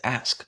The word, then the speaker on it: ask: They're not saying axe. They're saying axe. They're just not pronouncing it as ask.